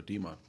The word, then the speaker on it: Demon: Okay, so demon. Oh, so the E is pronounced.